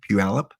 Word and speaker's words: Puyallup: Yeah, I can pronounce it correctly, Puyallup, but I couldn't find it again.